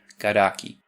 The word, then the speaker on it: Karak: For example, native Portuguese words never end in a c sound. So to make something like karak easier to pronounce, Brazilian Portuguese often inserts a dummy vowel e. Karaki.